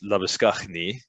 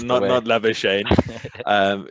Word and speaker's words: Labuschagne: But Rohit Sharma, Manas Labuschagne is how you pronounce it, not Labuschagne.